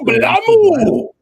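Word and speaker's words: BLAME!: So chat's saying it's just BLAME, and I know it's supposed to be pronounced blam, and it just got Englishified.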